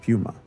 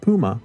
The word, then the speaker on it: puma: Which is the correct pronunciation of puma. It's not puma, it's puma.